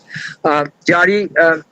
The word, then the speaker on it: Jari: The word Jari has originated from the Persian word Zari, Zaridan. Z cannot be pronounced in Bengali, so Zari has been replaced with Jari, Jari.